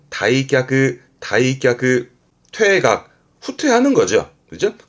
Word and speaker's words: 退却: 발음은 다이크 다이크 퇴각 후퇴하는 거죠.